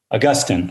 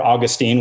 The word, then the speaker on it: Augustine: important figure in Christian history, and that is Augustine, or Augustine. We were talking before how to pronounce it, so we're going to interchange the